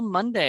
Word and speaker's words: Munday: pretty good I I pronounced your last name right right you did it okay it's just like the day of the week over the year but